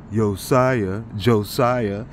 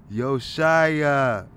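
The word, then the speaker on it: יאשיה: Even though it was saying Josiah. And I bet everybody says it like that. Joshua, Josiah. Nah, man. This is how you say it right here. Strong's Concordance. 2977. Yoshiya. Okay.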